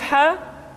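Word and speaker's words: ح: Huruf ha dikeluarkan dari tengah-tengah tenggorokan. Tengah-tengah tenggorokan. Ha, hi, hu, bah. Kesalahan yang paling sering ketika mengucapkan huruf ha adalah seringkali terpengaruh dengan huruf ha.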